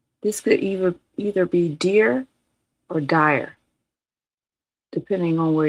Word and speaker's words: Tyre: Oh, it's pronounced Tyre or like a tire like a Tyre.